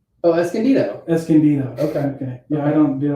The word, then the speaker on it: Escondido: Escondido. Okay. Yeah, I don't, dude, I always add more syllables. Escondido is like 3 syllables. I add like 5.